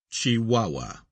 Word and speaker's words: Chihuahua: as clear as crystal footnote pronounced chihuahua end of footnote when the americans